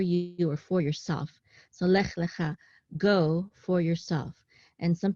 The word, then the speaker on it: lech lecha: So lech lecha, and we see here that this tevir, this is the trope mark, so the accent is on cha, lech lecha.